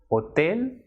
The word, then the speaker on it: hotel: H, which is pronounced as H, it is always silent and it will not be pronounced at all. It will not be pronounced at all. So H in Spanish is known as H and it will be silent. For example, hotel, hola, ahora.